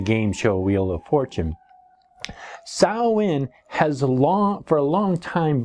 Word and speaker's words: Samhain: Now, the word is actually spelled out S-A-M-H-A-I-N, but it's actually pronounced from a pagan vernacular, Samhain. It's not from a pagan vernacular. I don't even know what pagan vernacular means. The word Samhain, pronounced Samhain and spelled S-A-M-H-A-I-N, actually comes from the Irish Gaelic dialect.